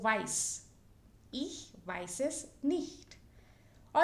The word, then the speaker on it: weiß: Again, you can see here this sign of beta, Doppel-S, which you could see here in Größe. So weiß.